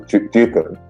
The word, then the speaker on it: Chetan: My name is pronounced as Chetan, but he said, Chetan, people look at 6, and 6 stands for profit.